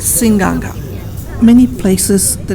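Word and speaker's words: Seaqaqa: approaching a little town it's called Singh Ganga and there's no end in the spelling but it's called sing Ganga many places the names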